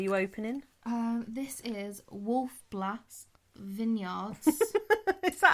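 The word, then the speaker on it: Wolf Blass: often what are you opening um this is wolf blast vineyards is that how you pronounce that b l a double s yeah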